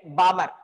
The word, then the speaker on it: Balmer: Here, L is the silent, Balmer.